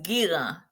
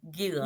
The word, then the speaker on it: Guirand: Last name is Gira. Gira. Okay. Gila or Garan, however you want to pronounce it, but in it's it's French origin. Gila.